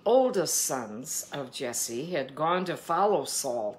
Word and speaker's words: Jesse: And they don't pronounce the J's. So I'm caught between just being a plain old American here and saying Jesse or saying Yesse.